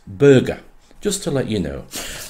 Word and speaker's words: Burgar: It's spelt B-U-R-G-A-R, Burgar, but apparently it's pronounced Burger.